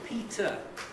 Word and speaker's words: Peter: It's Peter and only Peter with an er. So forget the spelling. Forget the spelling. It's a schwa.